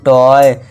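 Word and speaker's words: toy: बॉय टी ओ वाई टॉय।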